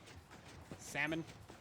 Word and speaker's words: salmon: I'm pretty sure no one actually pronounces pronounces the L.